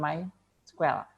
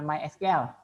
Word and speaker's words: MySQL: GTA bacanya misspell ini bacanya main Square bukan my SQL dekat diganti kalau yang